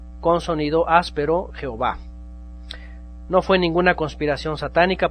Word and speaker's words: Jehová: un poco áspero y la jota se pronuncia como y entonces en inglés es